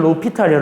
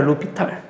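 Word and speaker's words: L'Hôpital: 참고로 독일어라서 이거 묵음이거든요. 그러니까 이거 없는 단어 치면 로피탈이야. 로피탈.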